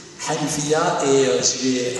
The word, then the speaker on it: Hanifiyyah: Je laisse maintenant la parole au collectif Hanfia, je l'ai bien prononcé Hanifia.